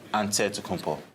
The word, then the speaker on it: Antetokounmpo: in a real way you gotta say with the d so it's a dead compo but in the greek way you say with the nt like antetokounmpo whatever you got just say